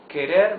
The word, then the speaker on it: querer: to pronounce the words you see that the r is the soft sound of the r because it's not at the beginning of the word and because it is not doubled it is not Double